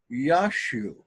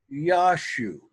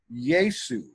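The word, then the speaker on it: Ἰησοῦ: Correct pronunciation of this word is Yashu. Yashu. And I'll show you why that's the case. But people that study Greek, they're told that it's pronounced Iesu.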